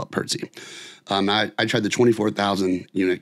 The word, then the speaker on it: Pertzye: And then again, Pertze, which is Pertze. Let's see. Don't worry, I have some nearby because it was just so great. Pertzye is how you spell it, Pertze.